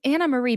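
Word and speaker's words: Annemarie: Anna Marie's name is it is Anna Marie because it's dutch spelled anarie but Anna Marie and Andy asks Tory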